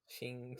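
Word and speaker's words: Qing: City I've ever heard in my life yeah ching ching ching ching City Jes it's q i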